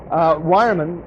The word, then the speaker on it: Weyermann: This is from Weyermann in Bamberg.